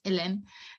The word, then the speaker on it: Hélène: Like I'm French originally, so like my name is also with accent, so it's Hélène.